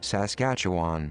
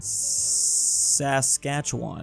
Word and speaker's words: Saskatchewan: in I always have to look up the pronunciation here Saskatchewan Saskatchewan but I feel like that's not technically right